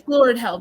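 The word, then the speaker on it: Glóredhel: It's Glorell because I spell it G L O R E D H E L. Excellent. An accent on O.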